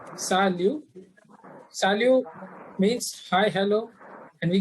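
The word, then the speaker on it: salut: good morning next one is sa liu p is silent salu salu means hi hello and we can use for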